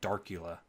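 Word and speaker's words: Darcula: the theme drop down check Dracula or darula not Dracula I always pronounced it Dracula in my mind but it's darula anyway go ahead and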